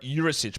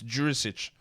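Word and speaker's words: Đurišić: Another one of those ones on the NBA pronunciation guide that apparently they got wrong, because they wrote Jurisic, but it's Jurisic.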